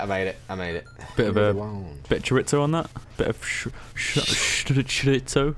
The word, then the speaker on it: chorizo: Bit of chorizo on that? Bit of chorizo? Hey, that's how it's pronounced.